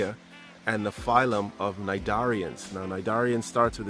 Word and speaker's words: cnidarians: Corps gonna say ax and the phylum of cnidarians now my darian starts with a c to c is silent and the cnidarians are basically in vertebrates marine invertebrates that some